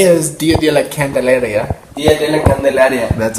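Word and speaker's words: Día de la Candelaria: Dia de la Candelaria.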